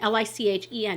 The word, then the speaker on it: lichen: It's L-I-C-H, and L-I-C-H-E-N is lichen, so I'm going to say that this is like, and this is a Linda color.